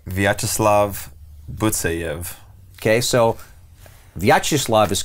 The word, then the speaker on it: Vyacheslav: Okay, so Vyacheslav is correct. Okay. It's Butsayev. Butsayev, accent on the second to last syllable.